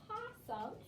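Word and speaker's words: opossum: it looks like but in this word it is silent it's supposed to be over there but it's silent oh so the animal possum starts with an o but you don't hear it can i use my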